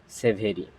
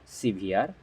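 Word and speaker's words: severe: এবং বামি এর অ্যান্টোনিম হচ্ছে সিভিয়ার ইটস নট সেভেরি তাহলে আমরা কি জানবো বাস্তব থেকে এস ই ভি আর ই এর উচ্চারণ হচ্ছে সিভিয়ার এবং এর অর্থ হচ্ছে প্রচন্ড অথবা তীব্র যা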